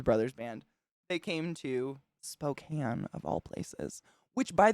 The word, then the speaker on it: Spokane: I know that the way people pronounce it wrong is they say Spokane.